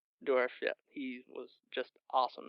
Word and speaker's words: Dourif: Brad Dourif. Dourif? Yeah. Is that how you pronounce his last name? Dourif, yeah.